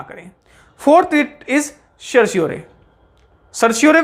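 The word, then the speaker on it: certiorari: Fourth writ is सर्श्योरे। सर्श्योरे को समझने के लिए, द फोर्थ रिट इज सर्श्योरे।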